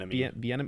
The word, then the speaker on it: Bieniemy: the main controls and Bieniemy? Eric Bieniemy, is that how you say it? Bieniemy. Oh, that's right. There's an extra little N thrown in there.